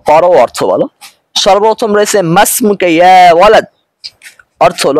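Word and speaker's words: ما اسمك: এ কারণে আলিফ এবং হামজা কোনটাই উচ্চারিত হবে না। এখন আমরা উচ্চারণ করব এভাবে মাস মুকা অর্থ হল তোমার নাম কি?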